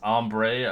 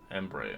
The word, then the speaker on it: Embre: It's Ombre. I don't know if that's how you. Embre? I don't know. How do you say your name? Embre. Embre. Okay, yeah. I'm getting close. Almost like Ember.